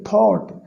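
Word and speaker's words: thought: Okay, थॉट यानी सोचा, think का सेकंड फॉर्म है, थिंक, थॉट, थॉट। ठीक है, यहाँ पर जीएच साइलेंट है, थॉट है, जीएच साइलेंट है।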